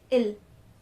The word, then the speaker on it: ils: We do not pronounce the S again, so the pronunciation is just ill.